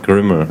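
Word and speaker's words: grml: I'm and I'm working on Grimmer, which is another Debian derivative. We pronounce it Grimmer, it's G-R-M-L.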